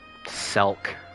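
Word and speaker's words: Selch: not Alchemy or conjury silk rhymes with milk listen I'm too used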